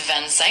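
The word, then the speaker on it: vingt-cinq: For number 25 in French, it's Vansen, and it's spelled V I N G T C I N Q E.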